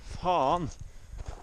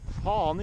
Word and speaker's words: faen: Faen i helvete!! When you use that phrase, it's important to open your mouth as wide as possible.